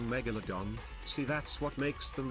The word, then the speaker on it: Megalodon: Megalondon.